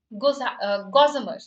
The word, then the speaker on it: gossamer: A, D, okay, C, Gossamer. That's how it's pronounced, not Gossamer.